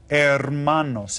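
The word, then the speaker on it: hermanos: just call them M ermanos and you can see that that H is still silent right there you don't pronounce that okay MOS well right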